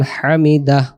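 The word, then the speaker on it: حمده: সামি আল্লাহু লিমান হামিদাহ হামিদাহ বাংলাতে হ আকার হা ময়ঋষিকারমি হামিদ আকার দা আরেকটা হ দিলে যেমন হয় হামিদাহ হায়র উচ্চারণটা ভেসে উঠাইতে হবে হামিদা হামিদা না হামিদাহ এমন করে সামি আল্লাহু লিমান হামিদাহ সামি আল্লাহ মান হামিদা।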